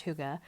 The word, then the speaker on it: hygge: it is their hygge I said Higgy at the beginning just because phonetically that's what it looks like but it is pronounced hygge it is the simple